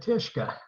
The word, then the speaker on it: Tyszka: my name is tishka that's tishka rhymes with fishka it's a polish name otherwise i'm known as